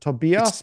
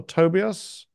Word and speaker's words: Tobias: even in America I need to learn to pronounce your name right so is it Tobias would be the German or Tobias Tobias Tobias the end of an hour I